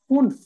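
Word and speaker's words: fünf: সামান্য হচ্ছে উচ্চটা ডিফারেন্ট হবে জাস্ট শুনেন একটু ফুনফ হুনফ হুনফ ওকে পুনফ ওকে উমলা আসার কারণে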